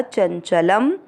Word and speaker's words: चंचलम: पहला चरण च के बाद में है य, चन, च और ल दोनों अक्षर पूरे, दोनों में मिक्स करेंगे। चंचल शब्द पुराने के बाद ल पे अनुस्वार आधा म चंचलम।